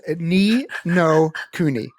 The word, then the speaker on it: Ni no Kuni: Ni no Kuni. I'm still working my way through that. I'm sorry, what was that? Ni no Kuni. A couple more syllables. Ni no Kuni.